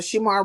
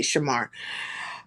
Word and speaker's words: Shamar: He tried to dictate how uh Sheamar runs uh I would say Shamar. You know what? It's the way it's spelled. Shamar. Let me stop doing that.